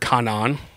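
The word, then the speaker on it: κανών: So canon comes from the Greek word kanan just like as it's a transliteration. So it's spelled exactly how it sounds and it originally meant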